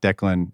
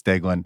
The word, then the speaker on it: Deaglan: pronunciations uh so uh Delan is is uh pretty uh simple it's not Dean it's delin and I had that